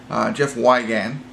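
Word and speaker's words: Jeff Wigand: on a true story Jeff wagon is how you pronounce his name and it'll be interesting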